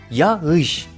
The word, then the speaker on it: yağış: Kelimenin doğru telaffuzu kağıttır yağışa yağış yağış Elbette doğrusu yağış Bu kelimenin çünkü çocuk öyle